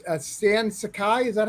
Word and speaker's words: Sakai: Because he hand letters Stan Sakai. Is that how you say your last name, right? Yes. Yeah, I said it right. Stan Sakai.